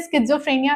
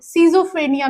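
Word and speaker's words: schizophrenia: ये मैं इसे स्किजोफ्रेनिया प्रोनाउंस करती हूं। आप सीजोफ्रेनिया भी बोल सकते हैं। इसके दो प्रोनाउंसिएशन है। एक स्किजोफ्रेनिया दूसरा सीजोफ्रेनिया। Okay? It's अप टू यू आप क्या प्रोनाउंस करना चाहते हैं।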